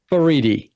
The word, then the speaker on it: Faridi: Why don't you pronounce the last name? Fariti.